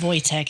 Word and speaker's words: Wojtek: But the W is pronounced with a V, right? I guess it could be Voyche. Voycheek. Vo Voy. Voytech is what I'm going to pronounce it as.